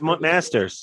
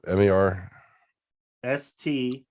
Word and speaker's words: Marsters: Oh, James Masters. Spike. James Mazers. Easy. Marsden. I mean, I loved Angel, but Marsters. What is that? James. Spell it. M-A-R. Sters.